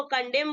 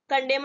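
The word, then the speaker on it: condemn: एम एन ठीक है इसको कॉन्डम बोलेंगे कंडम नहीं बोलेंगे ठीक है इसको प्रनंसीएशन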